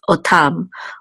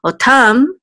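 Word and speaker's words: אוֹתָם: And this etnachta is the accent or trope mark, so we know the accent is on the last syllable, so it's otam. Otam means them, so when you number them, otam.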